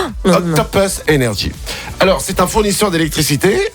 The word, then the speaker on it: Octopus Energy: Eh ben, je le dis bien parce qu'on nous a dit il faut bien le prononcer en anglais et pas faire Octopus Energy. Octopus Energy.